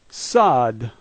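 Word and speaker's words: сад: First letter S, second letter A, third letter D. Sad.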